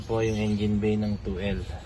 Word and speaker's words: 2L: yyung engine bay ng 2l Toyota L silent L po yan Hindi po h Tulad nung iba na 2lt Ito po is 2l